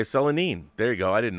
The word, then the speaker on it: Selene: first shown and yes it's pronoun pronounced uh cel silicone or knee selene selanine selanine okay selanine there you go i